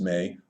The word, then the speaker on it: me: The maze, spelled M-E and pronounced May, are the rules and prescriptions for civilization, basically the DNA of civilization.